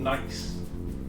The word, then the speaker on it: gneiss: This is called gneiss, with a G, spelled with a G, G-E-N.